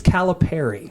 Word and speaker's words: Calipari: to talk about the Calipari. Calipari. By the way, shout out to my good friend TJ Wary, who is a Memphis grad, who confirmed it is Calipari.